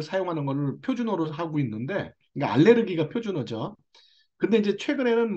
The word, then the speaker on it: 알레르기: 알러지나 알레르기나 똑같은 얘기에요 알러지는 미국식 발음이고 알레르기는 독일식 발음입니다 고차에만 있는 거예요 우리나라는 의학적으로 원래 이제 독일식 발음을 사용하는 것을 표준어로 하고 있는데 알레르기가 표준어죠 근데 이제 최근에는